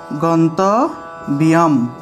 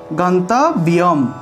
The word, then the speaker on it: গন্তব্যম: ম, আমি লিখে দিই গন্তব্যম, গন্তব্যম, গন্তব্যম অনুসার থাকায় উচ্চারণ ম এসেছে, আর অন্তস্থ জফলার উচ্চারণটা ইয়ো, অর্থাৎ রস্বই যুগ অন্তস্থ